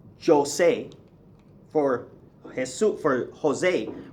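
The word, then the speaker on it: José: So for example, you don't say Jose for Jesus, for Jose, right? The name Jose that everybody in America calls Jose, okay? It's not Jose, it's Jose.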